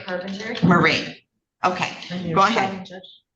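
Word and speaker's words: Mairead: My name is Marie Carpenter. Marie.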